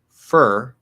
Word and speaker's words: for: to sound uneducated uh if the question is how do i pronounce four in the sentence and it's not the last word the answer will be fur but for is possible okay it's always going